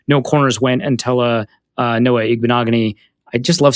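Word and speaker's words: Noah Igbinoghene: 19 and then no corners went until a Noah ignominy I just love saying that name now that I know how to pronounce it went to the Dolphins and the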